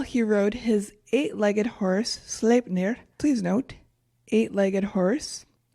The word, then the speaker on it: Sleipnir: Yeah, I was saying Sleipnir, and it's Sleipnir.